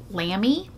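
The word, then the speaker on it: Lamy: treated myself to a Lambie is how you say it Lambie calligraphy fountain pen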